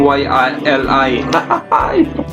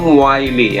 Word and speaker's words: Wiley: Nagkamali kasi ako nung una. Sabi ko, Team YLI. Ngayon, tama ng pronunciation ko ha. Ang pagbasa ko pala. Yan, Team Wiley.